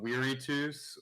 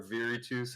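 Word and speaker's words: virtus: the roman virtue of weary tooths or viretus however you want to pronounce it there's debate on that which translates directly to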